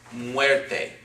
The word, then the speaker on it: muerte: would be the word muerte okay again two syllables this is a diphthong okay it's pronounced together weight width it okay not mu we're taping it's run together with it this is the last